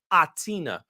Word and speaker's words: H'Atina: goes by name of atina i believe that h is silent but i'll confirm with